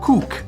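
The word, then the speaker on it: CUC: is the convertible peso known as the cook because it's spelled see you see and that's what you're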